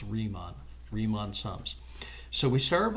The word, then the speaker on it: Riemann: Bernhard Riemann excuse me it's easy to mispronounce this word but it's Riemann so if you're familiar with the song by Aerosmith called dream on that maybe you're not